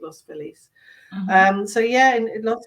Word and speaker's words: Los Feliz: feliz sorry we said i would say as an english person lost philly or spanish but it's they pronounce it los police um so yeah and